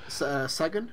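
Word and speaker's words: Segun: Whereas is it Seagun? I can't pronounce his name. Sagan?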